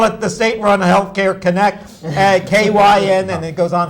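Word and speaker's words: Kynect: In Kentucky, they have something called Connect. It's spelled kind of yes, weird, Connect.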